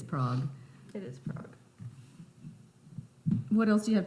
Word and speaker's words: Prague: It's Prague. Prague. Prague. It has an A in it. But it's Prague. Is she right? You also don't pronounce the UE at the end. It's not Prague. It's just Prague. I think Prague.